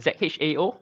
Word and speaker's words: Zhao: It's called Zhao, Z-H-A-O, or pronounced as Zhao. So it's a direct translation from the Mandarin pronunciation.